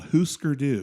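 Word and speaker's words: Hūsker Dū: Uh, so you spell it like husker with d o at the end. But it's called hookerdoo.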